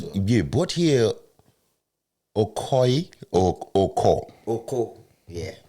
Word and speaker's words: Okoe: Yeah, Bortier Okoe or Oko? Oko, yeah. So the E is silent?